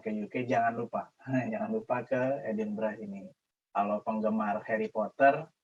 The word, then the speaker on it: Edinburgh: Karena saya sudah 2 tahun lebih ini tinggal di sebuah kota di UK, namanya kalau cari di Google mungkin Edinburgh gitu, tapi kalau orang sini bacanya Edinburgh.